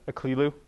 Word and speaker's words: Aklilu: It's pronounced Aklilu, and I've had people come up to me and use it in the form something along the lines of "No, I kill you," which is not what you want to hear from people.